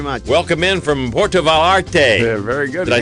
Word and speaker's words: Vallarta: welcome in from Porto valte very good did I say it right I'm getting close roll the L's make it sound like a y and oh you do